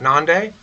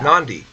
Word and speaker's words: Nandi: is actually pronounced Nandi. Oh, it's not Nande. It's No. Nandi.